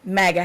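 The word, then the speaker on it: MAGA: yeah was wearing a mega mega mega hat that is the proper way to say it apparently mega for those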